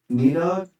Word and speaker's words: Nidhogg: going to actually pick this up, but here's how it's pronounced. Nidhogg? Nidhogg. Nidhogg. Very much just English reading it, apparently.